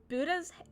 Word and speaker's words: Buddha: It's called Buddha's... Is it pronounced Buddha or Buddha? Buddha. Yeah, Buddha.